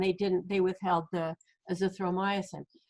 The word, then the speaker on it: azithromycin: supposed to and they didn't they withheld the azithromycin right did i say it right this time